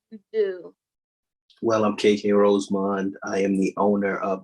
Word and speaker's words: Rosemond: KK ROSEMOND.